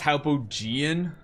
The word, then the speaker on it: Hypogean: power is extending outward wait is actually pronounced hypogen yeah it's hypogen sorry does the inscription say